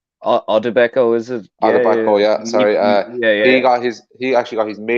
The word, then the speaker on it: Odubeko: And Odubeko, is that the correct pronunciation? Odubeko, is it? Odubeko, yeah.